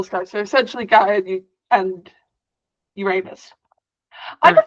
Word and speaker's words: Uranus: someone mentions that planet, they always say Uranus because that's how it's just funny to us as kids. But it's Uranus. I think it comes with age, being able to say it properly.